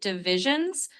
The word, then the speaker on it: divisions: So, it's pronounced kind of like divisions. The stress is on that second syllable.